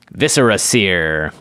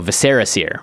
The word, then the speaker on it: Viscera Seer: one i bought is viscera seer or as we used to pronounce it five years ago viserys here very incorrect it's one black for